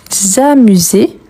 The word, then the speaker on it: amuse: Oui, le S entre voyelles, il y a les sons de Z.